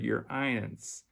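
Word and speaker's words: Y'reince: royal highness is contracted into the single word your ions your ions it's spelled y r apostrophe i-e-n-c-e a single word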